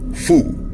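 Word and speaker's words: 蝠: tenido suerte, ya que el segundo carácter de su denominación en chino, Fu, se pronuncia igual que uno de los caracteres que significan felicidad.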